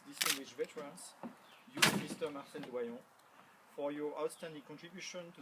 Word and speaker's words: Doyon: Should I pronounce it the French way or the American way? How do you say? Doyon? Is it all Doyon, right? oui. Is Doyon all right?